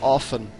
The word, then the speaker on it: often: He should know that it's pronounced often.